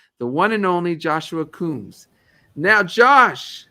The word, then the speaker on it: Coombes: right you did honestly you got a spot on joshua coombs and a lot of the time it is um i find in america it's usually pronounced joshua combs so you actually you're